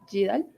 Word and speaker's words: GDAL: Y para programar, pues R o Python, y para como que sea específico para GIS, GIDAL. GIDAL. GIDAL. Yeah. Y algunos otros por ese estilo. GIDAL. Can you spell it?